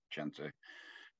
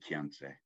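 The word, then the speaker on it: Chenrezig: the second songs are I always say chensei because checked rivershay pronounce it because he was from calm so that's an Eastern Tibetan accent of chensei uh most people say quiense or most don't maybe I don't know anyway there's also the pronunciation can't say um I think it's Central Tibetan I think as you can't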